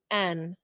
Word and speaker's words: salmon: pronounces it. Exactly. Okay, are you ready for the next one? Yep. Okay. SALMON.